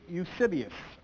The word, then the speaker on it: Eusebius: There was a man named Eusebius. I'm going to spell that name, E-U-S-E-B-I-U-S, Eusebius.